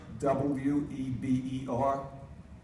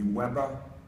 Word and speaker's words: Weber: And the next gentleman is a German, Max, and if we pronounced his name the American way, it would be Weber. But because he's German, I give him his due as Weber, W-E-B-E-R.